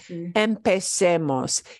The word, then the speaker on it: empecemos: Even though I switch from a Z to a C, C-E is still say. So it's still empecemos.